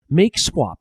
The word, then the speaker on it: mkswap: We can run sudo make swap, which is spelled MKSWAP.